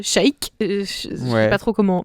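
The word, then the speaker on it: Sheik: YouTube qui s'appelle Stellar Chic et ça s'écrit comme les trucs Zelda SH. Ah ok, j'étais là genre chic mais c'est l' shake je sais pas trop comment.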